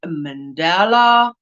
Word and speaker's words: mandala: has brought out a mandala. Mandala. I used to say it wrong, because we say mandala. But you also say mandala. The emphasis on the DA, dollar.